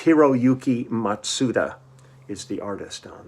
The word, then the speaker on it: Hiroyuki: by eui nishiwaki and hiroki matsuda hiroyuki i'm sorry i didn't pronounce that wrong matsuda and it's myself